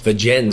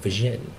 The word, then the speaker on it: Vergennes: Vergennes, you actually pronounce the S. I thought it was like French, like Vergennes.